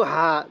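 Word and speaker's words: ح: সবকটি আপনার এখানে শেখা হয়ে যায়। এরপরে হা, এই যে জিলাপির পেজের মতো যে হাটি দেখতেছেন, এই হাটি উচ্চারণের সময় মুখ দিয়ে হালকা আওয়াজ করতে হবে, তাহলে হা।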